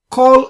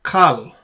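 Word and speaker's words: כָּל: Kol ele bene Yoktan. All of these are the sons of Joktan or Yoktan. Now, if you notice here, we pronounce this as kol, not kal, kol.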